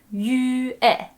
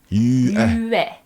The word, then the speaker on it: Yue: So to break that down, it's Yue. Yue. Yue. Yue. Yue. Just say that fast, Yue. and then eventually it'll string together into one syllable.